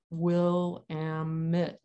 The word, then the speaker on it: Willamette: okay here we go rhymes with dammit what the river says this is what i say william stafford the willamette dares the stranger to say her name one needs the dictionary syllables will ammit but even they are